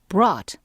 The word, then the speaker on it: brought: 네, 사람들이 brought, 네, 이것도 잘 알아두시지 않으면 알아보기 힘든 과거형이죠. 데리고 오다라는 bring의 과거형입니다. 여기 GH는 묵음이라서 발음이 안 되죠.